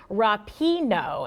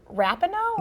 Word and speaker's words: Rapinoe: is pronounced Megan Rapinoe instead of Rapinoe?